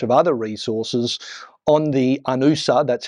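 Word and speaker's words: UNOOSA: and a bunch of other resources on the anusa that's how you say it the United Nations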